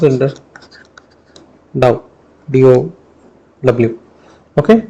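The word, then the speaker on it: ∂: This we are using a Greek alphabet, that's called dou. Okay, it's pronounced in the dou, d-o-w.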